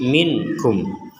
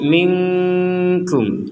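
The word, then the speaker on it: منكم: kita membacanya dengan samar minkum samar itu artinya antara jelas dan dengung kalau kita baca jelas akan menjadi minum kalau kita baca samar akan menjadi minkkum itu maka jelas atau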